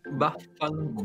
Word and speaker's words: vaffanculo: Vaffanculo. Vaffanculo.